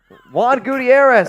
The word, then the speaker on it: Gutierrez: Juan Gutierrez. As you can tell, that H is silent.